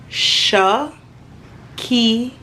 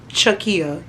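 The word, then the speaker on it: Chekiyah: shakia and it's pronounced Shaw key yeah okay I know it spelled with a CH but it's not Chuck it's not shakaya or whatever it's shakia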